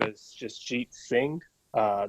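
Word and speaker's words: Jasjit: jason singh hi everyone uh my name is justjit singh uh it's spelled j-a-s-j-i-t last name is singh s-i-n-g-h and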